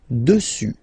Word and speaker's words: dessus: Final S not pronounced. Dessus, dessus, dessus.